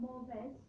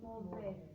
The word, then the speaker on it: mauvais: Remember, we don't pronounce it S. So Caleb, it's not mauvais, it's mauvais. Why don't we pronounce it S? Because it's brilliant. You see? Silent, final consonant.